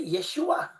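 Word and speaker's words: ישוע: Allora, ehm, allora, nel nome, se vediamo Yod Shin Vav Ain, Si on voit Yot Shin Vav Ain, si legge Yeshua. ça se lit Yeshua.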